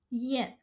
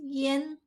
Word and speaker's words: 咽: This character yen has three different pronunciations. Can be pronounced as yen, ye, or yen.